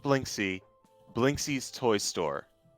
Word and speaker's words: Blinksy: It's not Blinksy. Blinksy's toy store. How do you pronounce that? Or how do you spell that? Blinksy, literally how it sounds. Blink, S-Y.